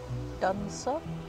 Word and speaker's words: Dunsop: Dunsop, is that how you say it?